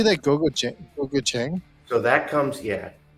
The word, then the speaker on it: gochujang: Gochujang? So that comes, Gochujang.